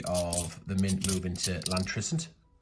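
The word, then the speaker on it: Llantrisant: the mint move into lantern or clan tristan if you're uh to pronounce it correctly in my uh best welsh accent so it's the 17th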